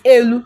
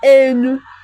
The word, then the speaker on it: elu: Why this elu can come in enu. That the li becomes ni.